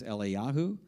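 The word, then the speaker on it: אליהו: it's about an interaction that takes place between Eli Yahoo that's the Jewish Prophet that we call Elijah his real Hebrew name is Eli Yahoo and Ellie Shaw that's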